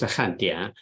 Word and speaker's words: 汉典: So it's in English, it looks like a and in, all right, but it's pronounced Handian.